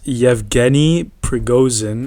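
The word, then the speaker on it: Yevgeny Prigozhin: say this guy's name okay his name is yevgeni pregosin he's a leader he's the leader of the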